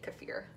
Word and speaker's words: kefir: I also just learned this year that is how you say kefir. I definitely called it kefir for a long time.